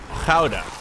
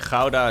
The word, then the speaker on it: Gouda: teaching your daughter this weekend how to pronounce Gouda? Gouda. Was she any good at it? I'm not ready yet. Probably not, huh? I can imagine it's pretty much impossible if you're not Dutch.